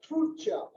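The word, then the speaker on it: Tulcea: I just got the correct pronunciation for this town. It's called Turcia.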